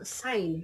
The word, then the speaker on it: sign: Like say for example, sign. The word sign, there is a silent letter which is silent G.